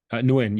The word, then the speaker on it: Nguyen: You have a quote from a name which is like hard for me to pronounce, Viet Nguyen or something like that. Nguyen, yes, Professor Nguyen at USC.